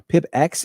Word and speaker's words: pipx: Pip X install speedtest-cli. That is how we pronounce this. I know the X is invisible, but not silent.